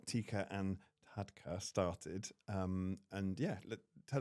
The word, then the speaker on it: Tikka and Tadka: Um Roshni, you run a company called TeakernTadka, and I've probably pronounced it right wrong, not right. TeakernTadka. Thank you. She says it a lot better than I do, and I'm so sorry.